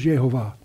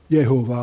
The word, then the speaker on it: Jehovah: That men may know that thou, whose name alone is Jehovah, or however you want to pronounce it, art the Most High over all the earth. And most of the rabbis won't pronounce the name, they'll just pronounce the letters, Yod Heh Vav Heh, or Yehovah, if you use the German J, and so anyway.